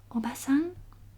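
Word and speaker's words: おばさん: The meaning of Japanese word can be changed by lengthening just one syllable. For example, ie, house. Ie no means no. Obasan, aunt.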